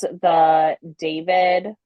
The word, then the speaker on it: d4vd: But it is the David. It's spelled D4VD.